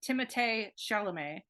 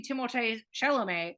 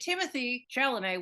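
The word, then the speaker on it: Timothée Chalamet: supposed to be pronounced timot Shel he's French his dad named him timot and it's supposed to rhyme it's supposed to be timot Shel which is so cute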